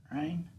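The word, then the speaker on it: reign: toward the end like Like Rain r e r e i g n the G would be silent rain you know you know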